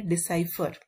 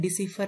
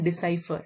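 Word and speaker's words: decipher: इसकी प्रोनाउंसिएशन है डिसाइफर। ये दिखने में डिसीफर लग रहा है लेकिन डिसाइफर।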